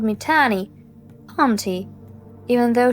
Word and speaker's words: Tannie: I liked the way she sometimes called me Tannie, auntie, even though she says it in her English way, and it rhymes with nanny, when in fact, it rhymes with honey.